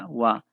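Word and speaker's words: は: hiragana si este hiragana es el hub pero cuando lo utilizamos como partícula se pronuncia agua y que es una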